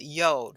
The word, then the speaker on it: Yod: Yod means, okay, the 10th letter of the Hebrew alphabet is called Yod, rhymes with mode, has the sound of Y as in yes.